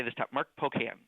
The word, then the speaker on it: Pocan: on the second syllable I've been pronouncing it with the emphasis on the first syllable uh which is right but you know this is I I to say this top Mark poan how do I say